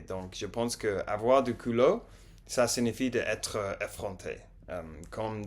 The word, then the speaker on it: culot: Euh, Elle a quand même du colo. Du colo. La prononciation me fait beaucoup de problèmes. Toujours. Elle a quand même du culot.